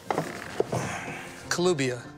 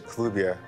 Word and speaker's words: Kelubia: Kelubia. Yes. I'm pronouncing it right. Yeah, Kelubia.